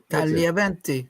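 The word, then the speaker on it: Tagliaventi: You don't pronounce the G before when it comes before a consonant. Talia. I I talent. It's like a ti ti. Yeah. Talventi.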